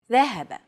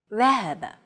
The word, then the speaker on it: ذهب: Classical Arabic will be written like this. And pronounced ذهب. Modern standard Arabic, however, would remove the vowels, so it would appear like this. And be pronounced ذهب.